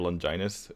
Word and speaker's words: Longinus: of the value in spear of Longinus is which is by the way it's I know it's weird but that's how you're supposed to pronounce it is that the 15%